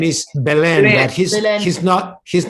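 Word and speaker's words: Belén: Can you tell us how do you pronounce that name? Yes, the Belen. name is Belen, but Belen.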